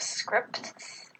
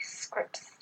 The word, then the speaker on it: scripts: Whenever T or D comes between two consonants at the end of a syllable, it gets elided, which means that it doesn't get pronounced. For example, instead of scripts, we say scripts.